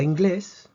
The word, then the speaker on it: inglés: acento de estas palabras la palabra inglés tiene dos sílabas inglés vemos que termina en s si terminan ese pre decimos que la fuerza tiene que estar en la penúltima sílaba pero no está en la penúltima sílaba está en la última sílaba por lo tanto inglés necesita acento ingleses por otra parte